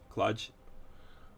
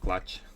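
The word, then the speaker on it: kludge: ah really cludge uh basically I pronounced like clutch cludge there is one uh from the other half of North America that is more drawn out and soft CL right cl cl cludge I don't know looking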